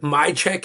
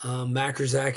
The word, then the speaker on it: Majkrzak: I my check is the Polish pronunciation, Okay. which is wild as well. Majkrzak is just what my American ancestors must have randomly decided on because it doesn't make any real sense.